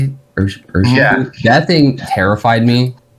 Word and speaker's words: Urshifu: But the Urshifu, is that how you say it? Urshifu?